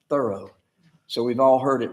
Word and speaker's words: Thoreau: That's the way he said his own name, Thoreau.